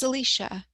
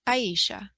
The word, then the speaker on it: Aisha: up and so does Alisha you know I I think I've been saying your name wrong it's a Aisha Aisha okay sorry about that